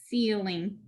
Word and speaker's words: ceiling: consonant l and i so we're going to divide this one after the l and the i is closed in so we'll get a breathe seal in ceiling okay for the word